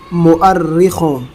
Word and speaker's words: مؤرخوں: کے حال میں مؤرخوں، یہ لفظ مؤرخوں ہیں، بہت سے لوگ اس کو مورخوں پڑھتے ہیں، بہت سے لوگ اسے مورخوں پڑھتے ہیں، بہت سے لوگ اسے میرخوں پڑھتے ہیں۔ سب تلفظ غلط ہیں۔ اس کا صحیح تلفظ ہے ڈکشنری میں مؤرخوں۔ اس کو یاد رکھیں،